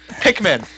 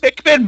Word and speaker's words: Pikmin: Pikman. Pikmin. Pikmin. Let's pronounce together. Pikmin. Pikmin. Good job.